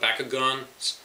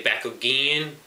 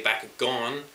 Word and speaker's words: Bakugan: wrong, and I say Bakugan, which actually has O when you think about it. The way I follow how the show pronounces it.